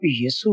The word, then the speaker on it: यसु: है, यशु से, और यशु और यसु की प्रोनाउंसिएशन में थोड़ा सा फर्क है। उसकी वजह यह है कि यशु जो प्रोनाउंसिएशन है वो इब्रानी रूट से है, इब्रानी प्रोनाउंसिएशन है। हमने जब इब्रानी तलफ़्फ़ुज़ को उर्दू में अदा करने की कोशिश की तो हमने उसको यसु कहा, जिसका मतलब निजात दहिंदा है।